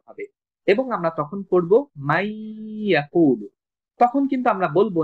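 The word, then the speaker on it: من يقول: ফলে এই নুনটা তখন অনুচ্চারিত থাকবে এবং ইয়াটা দুইবার উচ্চারণ হবে, এবং আমরা তখন পড়ব মাই ইয়াকুলু। তখন কিন্তু আমরা বলবো না মান ইয়াকুলু, এমনটা বলবো না।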